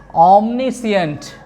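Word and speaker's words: omniscient: जो हम पढ़ते हैं इसका सही प्रोनाउंसिएशन ओम। क्या पढ़ेंगे? ओम। और ये देखिए नी, और ये सी, ओमनी सी। उसके बाद ये आपका अंट, ऑमनीसिएंट, इस वर्ड का जो करेक्ट प्रोनाउंसिएशन है वो है ऑमनीसिएंट, ऑमनीसिएंट, ऑमनीसिएंट।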